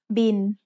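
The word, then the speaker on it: บิล: can you recognize it it's the word bill but we read it in tai as bin tai doesn't naturally have the l sound at the end of a syllable so it changes to sound like the letter n by mai sara e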